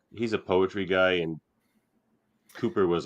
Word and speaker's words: Cowper: Well, this is a hymn by William Cowper, which is actually pronounced Cooper.